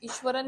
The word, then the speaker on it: Iswaran: देखो लिखना एस है लेकिन प्रोनाउंस इसको हम श ही करेंगे। क्यों? ईश्वरन नहीं कहना है। ईश्वरन ही कहना है।